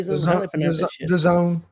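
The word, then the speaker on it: DAZN: Am I saying this right? Ken Don Day. Done. Done. Okay. Done. Won't they spell it like the zone?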